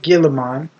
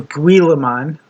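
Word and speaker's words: Guilliman: There's Robbout Gilaman or Guillean. Like Gilly almost except it's almost like pronounced Gilly like Gilly suit, which is like a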